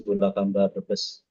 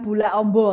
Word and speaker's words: Bulakamba: Tugasnya di di KUA, Kecamatan Bulakambaes. Heeh. Bacanya Bulak amba ya? Nggih. Bulakamba ngih. Bukan bulak ombo.